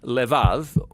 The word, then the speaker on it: levav: We're going to look at the fourth key word in this prayer, heart, which in Hebrew is sometimes pronounced levav, or more often in a shorter form, lev.